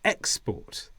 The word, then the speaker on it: export: around the world and the stress is on the first ad export but if you export